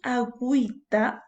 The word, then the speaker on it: agüita: Fíjate, cuando dices agüita, la U sí se está pronunciando. ¿Gracias a qué? Gracias a que está llevando un signo llamado diéresis que le permite la pronunciación.